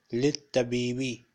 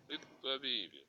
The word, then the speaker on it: للطبيب: هذا البيت للطبيب للطبيب Yes, we have two lam and one lam is silent. Littabibi. Littabibi.